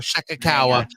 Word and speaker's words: Shirakawa: Megan Bayne, Willow Nightingale, Marina Shafir, and I can't pronounce her name. Mina Shirakawa, I believe. There you go, Shirakawa.